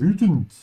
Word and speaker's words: wütend: Wütend, make sure to stretch your tongue forward here, especially if you're an English speaker, if you're not used to this sound. You just have to make sure the tip of your tongue touches your teeth from behind. You say vu and not vu.